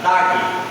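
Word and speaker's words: דג: Por exemplo, a palavra peixe em hebraico pronuncia dag.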